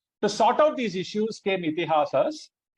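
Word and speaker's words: इतिहास: To sort out these issues came Ithihasas. Pronunciation is Ithihasa, right? Two long vowels there, right?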